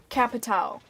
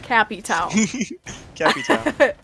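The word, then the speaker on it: Capitão: cappy towel it is how it is like capitao cat pit cat town not cappy towel cappy towel no capitao just shorten his name to cappy i'm going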